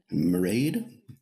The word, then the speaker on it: Marade: travail je m'appelle Marie marade comme prononcé comme parade mais avec un M je suis l'Université de